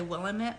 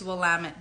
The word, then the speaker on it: Willamette: specifically the Willamette Valley spelled Willamette people say Willamette but I'm like kind of a stickler for pronunciation so when I went out there in